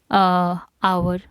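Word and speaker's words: hour: और second rule है इसका, before words beginning with the silent H, जैसे कि आवर, ठीक है, honourable, an आवर, N honourable, तो हम यहाँ पर भी एन का यूज़ करेंगे।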